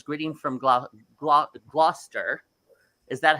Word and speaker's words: Gloucester: Well, we've got Lynn Skinnell says, greeting from Gloucester. Is that, how do you say that? Gloucester. Yeah, it's Gloucester.